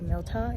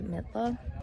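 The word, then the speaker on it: Mitla: we went into midla i mispronounced it earlier i said milta it's actually midla and um to get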